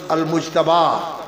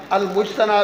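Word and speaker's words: المجتبى: اور یہ جو آپ کے پاس کتاب ہے السنن المجتبہ یا المجتبہ من السنن، المجتنہ بھی اس کا تلفظ ہے نون کے ساتھ بھی.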